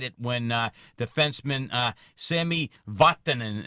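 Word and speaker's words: Sami Vatanen: when uh defenseman uh Sammy watanin and I'm going to say that correctly that's a finished pronunciation because I know there's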